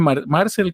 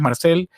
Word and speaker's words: Marcel: Yo pronuncio Marcel como que fuera inglés, pero es Marcel como Marcel Marsó, el el mismo o